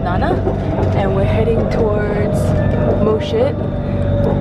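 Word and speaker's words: Mo Chit: and we're heading towards mosit I'm not kidding you that's how you pronounce it star terrain one side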